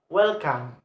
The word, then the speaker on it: welcome: For example, in word welcome, welcome. Welcome is the have two syllable, and the first and the stress is placed on first syllable.